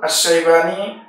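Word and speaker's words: الشيباني: আরেকজন আল এমনিভাবে আব আশাইবানি এবং আব সাইবানি একটি হলশিন দিয়ে একটি সিন দিয়ে দুনটি উচ্চারণ কাছাকাছি লেখার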